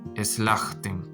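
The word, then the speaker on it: סלחתם: El sheva pierde el sonido y este sheva también pierde el sonido. Entonces, aquí también se pronuncia como eslajtem, que significa ustedes perdonaron.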